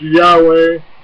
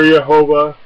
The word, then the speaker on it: Yahweh: P gramon G and can be pronounced Yahweh or yahovah the significance of God's